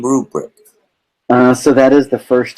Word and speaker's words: RuBrick: up with the name RuBrick? So that is the first 2 letters of my last name. So Ru, R-U, and the brick makes sense. So RuBrick, and because it sounds like a grading rubric.